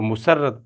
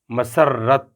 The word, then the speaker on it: مسرت: الفاظ۔ محبت، مذلت، مسرت، ہم اس کو عموماً جو ہے وہ مسرت پڑھ دیتے ہیں، یہ ہے مسرت، مشقت، مذرت۔ اب ہم